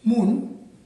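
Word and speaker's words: 문: বন্ধুরা, আপনারা একটা শব্দ দেখতে পাচ্ছেন যার কোরআন উচ্চারণ মুন, বাংলা অর্থ দরজা।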